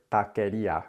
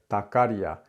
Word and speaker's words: taquería: First is the word taquería, which I heard tacaria, tacaria. This is really common for people to take the vowel of the first syllable, I hear this all the time, and apply it then to the second syllable.